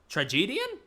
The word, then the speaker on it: tragedian: i i gotta know hey hey google how do you say that say it louder tragedian not well not what i would have pegged it as okay really yes i